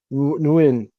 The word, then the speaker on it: Nguyen: Yeah, he's exacting vengeance on a bully neighbor with you pronounce that Win, N-U, that name is pronounced Win? Nguyen. Nguyen. Nguyen, okay, yeah, with the Nguyen kids.